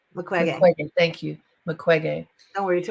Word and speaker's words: Mukwege: Mukwege. Mukwege. Thank you. Mukwege. Don't worry, it took me years to pronounce I it.